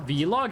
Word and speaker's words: vlog: get it over with I pronounce it the same as blog I don't think it's a wrong way of pronouncing it like blog I don't think saying blog is wrong but like every like YouTuber I've watched that does a vlog has pronounced it Vlog I haven't heard like